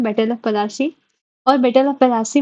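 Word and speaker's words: Plassey: में finally battle of पलासी होता है। ये एक मैं नोट में बता दूं प्लासी जो पलासी है इसका ये इंग इंग्लिश प्रोनाउंसिएशन से इंग्लाइज्ड वर्ड है पलासी ये आता है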